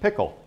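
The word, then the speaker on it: PICL: says president's intelligence checklist abbreviated P pronounced pickle which led to CIA being called The Pickle Factory for years John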